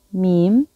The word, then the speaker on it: م: 이제 시기 그리고 부호랑 어떻게 발음을 하는지 연습해봐요. 첫 번째는 밈, 여기 이렇게 줄로 밈, 밈, 밈.